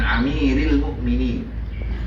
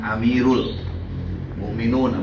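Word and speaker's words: أمير المؤمنين: Karena dia majrur jadi dibaca amir. Al mukminin menjadi mudhof ilaih. An amiril mukminin. Jadi kalian nggak boleh baca an amirul mukminun, apalagi udah kelihatan nggak nyantri.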